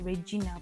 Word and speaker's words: Regina: University of Regina spelled as Regina, but the pronunciation is Regina.